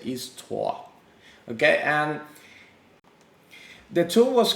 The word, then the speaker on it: Histoire: to solve certain issues the tool is called is tua and i'm really holding my venezuelan necessity of saying is toire but it's in french just as vid and view okay it's uh pronounce it is tua okay and the tool